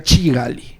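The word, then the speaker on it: Kigali: casamiento típico en Ruanda en la capital de Ruanda se pronuncia chigali la calle esto Este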